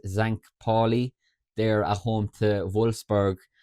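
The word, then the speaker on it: St. Pauli: other um with uh I think the pronunciation is Zank Paulie there at home to Wolsburg and then Hidenheim play as well at the same time.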